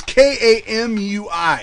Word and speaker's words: Kamuy: Golden Kamuy. I know that's not how you say it. Kamuy. Kamu. Just say showers. It's Kamui.